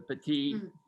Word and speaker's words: petit: cabernet merlot you don't say the tea the petit when there's no e at the end it's actually in french it's masculine the petite is feminine but so if you kind of